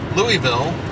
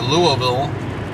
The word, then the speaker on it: Louisville: we are passing through louisville or louisville people get upset if you don't say it right louisville and then uh should